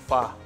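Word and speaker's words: phở: namin or tinatawag nating fa fa okay yung ph yun you pronounce It's fa talaga oo talaga okay Meron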